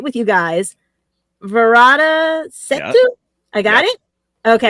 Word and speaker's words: Varada Sethu: Varada Sethu?